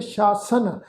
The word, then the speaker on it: शासन: तो इसका पाठ उच्चारण करांगे अनिक शासन, ससे पैर बिंदी लगा के पाठ उच्चारण करांगे शासन।